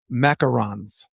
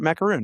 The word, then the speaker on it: macaron: But nobody in America says this one right. We always say macaroon, right?